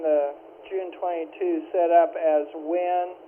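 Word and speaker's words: Wynne: June 22 setup as WIN, pronounce it like W-I-N, even though it's spelled different.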